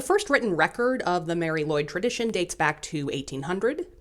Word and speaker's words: Mari Lwyd: but I love her thanks to my friend KA for helping me with the pronunciation of Mary Lloyd um if you're from Wales and you think I'm doing it wrong don't yell at me because I went to a Welsh person I went to the source for this pronunciation so do not yell